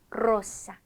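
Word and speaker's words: rosa: 아리바 이렇게요 자 그리고 두 개가 오지 않더라도 첫 글자 에로 사용된 경우 이때도 혀를 굴려줍니다 로사 로사 리오 리오 이렇게 해 주시면 되는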